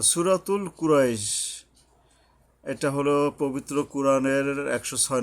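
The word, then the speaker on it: قريش: ও এই বড় কফ উচ্চারণে সাবধান হতে হবে, হলকের গোড়া থেকে শক্তভাবে আদায় হবে। কুরাইশ, যদি এখানে থামি তাহলে দুই আলিফ টেনে থামতে হবে, আর না থামলে এরকম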